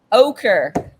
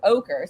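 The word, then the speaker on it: ochre: gonna say it wrong ocher okay so okay so remember that it's like ogre but with a K so ocher so it's yellow or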